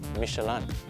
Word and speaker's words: Michelin: the real world and yes that's how you pronounce it michelan even martin brando says it like that in